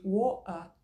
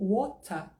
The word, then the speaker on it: water: Então, se eu escolho uma pronúncia mais britânica de woa ou wota, o ideal é que eu fale tudo com a pronúncia mais britânica. Por exemplo, imagina na mesma frase, eu vou tomar água depois. I will drink water later. Tá? Se eu falo water, eu tenho que falar later.